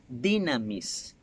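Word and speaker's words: δύναμις: poder proviene de una palabra griega que se pronuncian dynamis y bean amis es la habilidad para desarrollar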